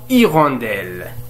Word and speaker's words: hirondelle: Ici, nous avons hirondelle. Hirondelle. Hirondelle, c'est un nom qui commence par un H. Alors, cette H, c'est un H muet.